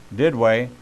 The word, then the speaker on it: Duduit: his new book first down devotions is Dell did way and you pronounce that you spell it d UD UI